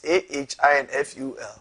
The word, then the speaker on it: Ahinful: was screen so because my name doesn't have an R. Oh, it's Ahinful.